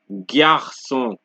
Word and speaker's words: garçon: So, G before any other letter is pronounced like a regular G. Example, glace, grave, garçon, glace, grave, garçon.